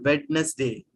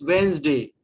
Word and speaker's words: Wednesday: seen some teachers skill wedness day Sunday Monday w w day it's not wedness day it's Wednesday it's Wednesday the way